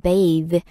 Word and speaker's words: bathe: 네, 목욕시키다라는 표현이 bathe, B-A-T-H-E. 발음을 조금 주의하셔야 되는 게 그냥 목욕, bath 하고 발음이 많이 달라져요.